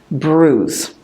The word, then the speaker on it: bruise: it's just a bruise watch the pronunciation of that word it sounds very different from the way it looks bruise so that's all for